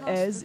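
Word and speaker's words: Èze: But the village of Ez, even though there are lots of tourists, so it's spelled E-Z-E, and you have the village, which is on top of a cliff.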